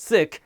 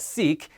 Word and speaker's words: Sikh: And yes, it's pronounced Sikh, not Sikh, and our religion has 3 pillars.